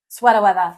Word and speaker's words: sweater weather: Sweater weather. Sweater weather. Okay. Yeah. Sweater weather. It's a New England thing. There's no R on that. Yes. Do you see an R? I do not see R.